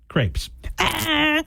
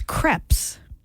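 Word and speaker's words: crêpes: I have written down crepes I'm sorry it's cpz you're closer there really it's creps not Crepes we all say crepes was that with that little triangle the E is for apparently it's creps all right Jeff you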